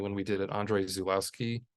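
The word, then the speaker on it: Żuławski: we did it, Andrei Zulawski, or Zhuwowski, I think it's how it's actually pronounced, a whole retrospective on him.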